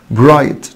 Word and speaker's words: bright: Bright طبعا ال GH هنا silent معنى ساطع أو لامع.